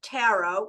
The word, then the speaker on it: tarot: tarot okay number two pronunciation of the word taro tyro you know we always say like what bird does it rhyme with is it tarot a crow is it tarot sparrow either way is fine you're not like